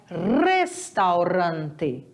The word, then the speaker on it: restaurante: mudar é a pronúncia o r sempre vai ser vibrante então é restaurante Olha só o a